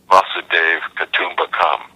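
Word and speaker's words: वसुधैव कुटुम्बकम्: v tradition the world is my family uh M Dave Kum become is how you say it in in Sanskrit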